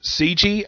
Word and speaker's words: Sanji: They pronounce it CG. I pronounce it Sanji. It's a different pronunciation, but it's spelled the same.